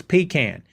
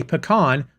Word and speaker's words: pecan: it that way yes the appropriate way to pronounce that word is pecan if you say pecan show yourself to the door there you go